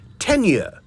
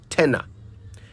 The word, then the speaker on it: tenure: use in election years I'll spell it t n Ur e tenure tenure not Tena ten tenure in a